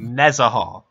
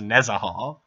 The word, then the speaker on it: Nezahal: Nezahal. His name is Nezahal. Or it could be Nezahal, or it could be Nezahal. There's 3 different syllables you can put the emphasis on.